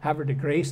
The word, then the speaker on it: Havre de Grace: Havre de graça T Havre de Grace they pronounced it their looting the home